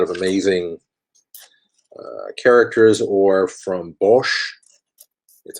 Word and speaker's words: Bosch: find a lot of amazing characters or from bosch that's how you pronounce his name one of my favorite illustrators